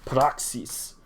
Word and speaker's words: Praxis: Apostles or Acts um the Greek word for that is uh you say it like proxies so here I got